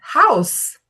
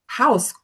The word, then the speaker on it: house: Por exemplo, a palavra uma das mais famosas que eu uso é house. House. Quantos brasileiros tentam falar house? Puxam o e, o som do e no final da palavra.